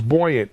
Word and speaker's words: Buoyant: william of course is the ceo of it's buoyant right it's how you pronounce it yeah yeah and then and uh